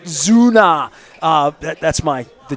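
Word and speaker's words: Sünner: u n n r it's spelled like Sunner but they pronounce it Zuna uh that that's my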